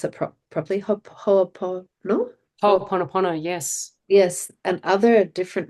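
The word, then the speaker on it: Hoʻoponopono: of going to, sorry, I'm not going to pronounce it properly, no? Ho'oponopono, yes, Yes, and other different modalities to seek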